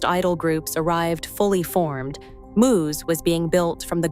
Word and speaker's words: μ's: The winning choice, Muse, pronounced Muse, wasn't chosen by a committee or a marketing team.